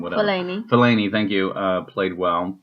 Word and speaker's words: Fellaini: and phthalate and say his name whatever Fellaini Fellaini thank you uh played well for him anyway